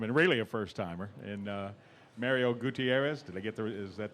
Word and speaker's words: Mario Gutierrez: Let's go to the other first-timer in the room, and really a first-timer, and Mario Gutierrez. Did I get is that the correct pronunciation there?